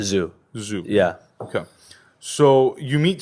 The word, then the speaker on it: ZHU: people call him Zoo zuu what's the right pronunciation zoo zoo yeah okay so you meet Stephen uh and